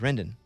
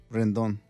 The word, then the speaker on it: Rendon: His name is Rendon. No. Rendon. You want to say it right? Rendon. Anthony Rendon. I don't say it like that. Right, Mikey? Rendon. That's it.